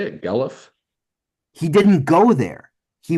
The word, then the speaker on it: Guelph: That's how you say it, Guelph.